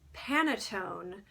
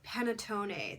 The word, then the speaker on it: panettone: It's kind of like the word Pantone, but if you added an extra E and an extra T to make it panettone or panettone.